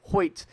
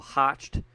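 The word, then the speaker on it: Hoecht: That's what I'm going to call him that because people want to say his name is Michael Hockett. I've seen so many. It's Michael Hoyt.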